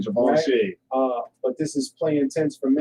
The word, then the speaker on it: Givenchy: Let's say it right, Givenchy.